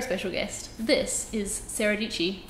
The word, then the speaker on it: Dietschy: This is Sara Dietschy, rhymes with peachy.